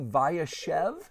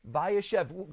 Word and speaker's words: Vayeshev: and if you could tell me am i pronouncing this correctly viachev yes that's very good vayashev can you tell us what vayashev means and how it is and he dwelt